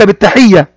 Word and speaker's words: بالتحية: فعل، يلقاك عندما يقابلك يعني بالتحية كما قد اتفقنا أن كلمة بالتحية بها لام شمسية، ومن علامات اللام الشمسية أن الحرف الذي يأتي بعدها يكون مشددا أو مضاعفا.